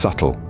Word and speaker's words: subtle: for instance the word subtle the B is silent so it's pronounced subtle the best way to